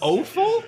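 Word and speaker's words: offal: the kidneys the oal that's how you pronounce oal o awful I don't know wait what this is blowing my mind the innards of an animal the o or F it's a French term it's good you if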